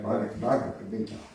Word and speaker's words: Bhagavad Gita: to excerpt a tiny bit out of the Bhagavad Gita. Is that how you say it? Yeah, Bhagavad Gita.